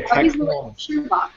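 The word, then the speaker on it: Tekk Holmes: Okay, Tech Holmes. Tech Holmes will be the winner then. Tech. Win. Like Sherlock Holmes, but Tech.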